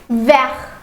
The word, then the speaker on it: vert: So here the pronunciation will change. For the masculine it is vert.